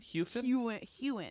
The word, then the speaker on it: Heughan: Heughan.